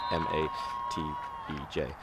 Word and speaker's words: Matej: It is Matej. I don't know if I'm pronouncing that correctly, but his name is spelt M-A-T-E-J.